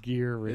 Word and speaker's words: Gere: actor Richard Greer yeah Richard Gere is gear yeah John is a